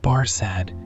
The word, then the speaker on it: Barsad: Barsad, said Defarge, making it French by pronunciation. But he had been so careful to get it accurately that he then spelt it with perfect correctness.